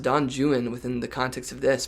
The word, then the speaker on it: Don Juan: I think it's pronounced Don Juan within the context of this because he he rhymes it with something like Owen. And so, we can infer that this the name is Don Juan.